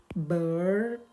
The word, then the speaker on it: bird: Kalau American atau US ini akan dibaca bird, ada R-nya dikit baru D. Jadi bacanya bird gitu bacanya bird. Tapi kalau UK atau British ini cuma cukup dibaca ini.